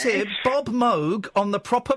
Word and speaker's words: Moog: Uh, and in Holland, you would pronounce it mo. Oh, no. That's a little bit too much. Mo, hang on. Yeah, in Germany it's a fairly common name and there it's pronounced Moog.